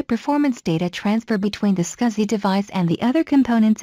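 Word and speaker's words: SCSI: that provides high performance data transfer between the scuzzy device and the other components of the computer scuzzy is pronounced scuzzy scuzzy in ics that is used in situations where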